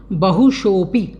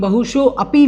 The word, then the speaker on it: बहुशोऽपि: कहाँ आ सकती है, तो हम देखें बहुशोपी, बहुशोपी जो है इसमें बहुशो अपी लोग बाग बोल देते हैं, इसको आपको अपी नहीं बोलना है। ये जो अवग्रह एस के आकार का बना हुआ है खंडाकार, इसका उच्चारण आपको नहीं करना है।